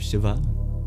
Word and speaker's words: Shiva: Instead of Shiva, you have Shiv.